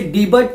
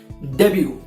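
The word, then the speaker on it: debut: कुछ लोग इसे डीबू पढ़ते हैं तो कुछ लोग इसे डीबट पढ़ते हैं, लेकिन इसका सही प्रोनाउंसिएशन है डेब्यू।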